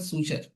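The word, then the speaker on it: suture: देखो marginal placenta, इसमें क्या होता है, देखो placenta forms a ridge along the ventral सूचर, इसको प्रोनाउंस करते हैं सूचर, ठीक है, यहाँ लिखा भी है सूचर, ठीक है, सूचर ऑफ द ओवरी।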